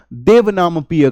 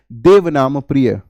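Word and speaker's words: देवानांप्रिय: वंश और महाव में अशोक को देवनाम पिय कहा गया जो कि पाली भाषा में लिखा गया है वैसे इसका सही जो उच्चारण होगा हिंदी भाषा में या संस्कृत भाषा में उसको बोलेंगे देवनाम प्रिय और अगली स्लाइड की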